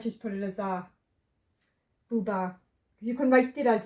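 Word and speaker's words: בובה: This is the bet, it sounds as bat. The T is the A vowel, and the silent H at the end to close. Booba. And booba is doll.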